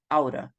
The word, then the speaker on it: oughta: So they prefer to link the two words, and the pronunciation will be at the end. The pronunciation will be oughta.